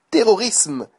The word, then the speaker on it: terrorisme: Et donc prononcez le isme comme terrorisme, népotisme, anglicisme. On prononce le S et non pas le Z, comme on l'entend souvent. Terrorisme par exemple.